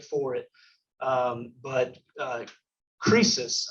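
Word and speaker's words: Croesus: it um but uh crisis i think is the the correct way to say it but as rich as creases so crisis was the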